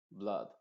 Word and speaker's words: blood: no se dice flood y Blood sino flood Blood y sobre todo acá lo que tienes que aprenderte es que no pronuncies esta vocal con una a muy abierta